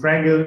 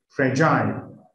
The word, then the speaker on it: fragile: I'm sorry, it's not fraggle, it's fragile.